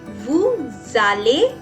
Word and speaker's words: vous allez: With vous it will be allez, and you will pronounce it as vous allez because again s is followed by a vowel.